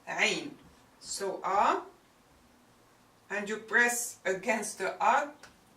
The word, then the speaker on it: عين: It's, you start saying ah and then you press against your throat. Ah. So that عين will come out. Alright? You can even write it like an ah. Ah squished with a ra.